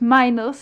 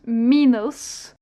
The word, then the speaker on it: Minos: Told us, for example, that the person we used to pronounce minus is actually pronounced minus.